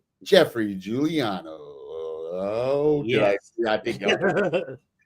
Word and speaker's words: Giuliano: So, without further ado, here we go with Jeffrey Juliano. Oh, did I I think I was worried I murdered his name again. Not an A. Definitely not an A. Not Juliana.